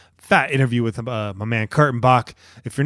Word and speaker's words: Kurtenbach: the mercury news am I am i pronouncing your name correctly that's I start off most of my interviews yeah Kurtenbach you nailed it so it's not no